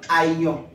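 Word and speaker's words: aion: type de temps c'est le temps à Lyon ça s'écrit a i o n le temps à Lyon le temps à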